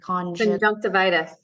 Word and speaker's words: conjunctivitis: Allie, how do you pronounce that word? Conjunctivitis.